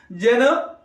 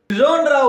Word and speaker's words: genre: Just listen how that first sound is being pronounced. See, take for example, Shas and Shu. How do you pronounce that? Using the tip of your tongue. Shas and Shu. Whereas, ja as in vision, measure, pleasure, genre.